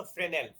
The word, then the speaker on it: Fresnel: There was this optical physicist who research this, তার নাম ছিল ফ্রেনেল এস্টা সাইলেন্ট।